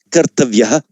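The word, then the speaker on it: कर्तव्य: So here, on its own, or at the end of a word, this word would be pronounced kartavya.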